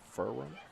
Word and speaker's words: Ferrum: That's how you pronounce that school, Ferrum.